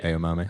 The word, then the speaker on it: Aomame: But that's how it's actually pronounced. Yeah, like edamame. Yeah. Aomame.